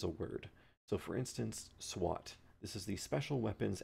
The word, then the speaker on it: SWAT: that's what SWAT means so we take the first letter of each word SWA T and we say it as a new word so this is an